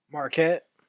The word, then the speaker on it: Marquette: How do you pronounce that? Marquette.